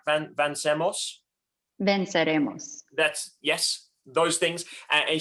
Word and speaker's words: Venceremos: And then finally, we have Jen Guerrero from Vancemos. I'm pronouncing that right? Vancemos? Venceremos.